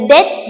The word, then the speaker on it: debt: Okay, read it as debt, don't say like debts, and read it as debtors, it's not debtors, B is silent.